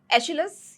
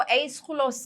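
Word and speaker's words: Aeschylus: एशिलस या एस्कुलस जो भी आप उसे कहना चाहें जैसे भी प्रोनाउंस करना चाहें। ग्रीक में तो एस खुलस कहा जाता है।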